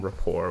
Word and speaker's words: rapport: In some ways, because like if you're really friendly, it'll build some rapport with people there.